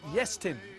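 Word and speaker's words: Iestyn: It's Yestin, with the emphasis on the first syllable.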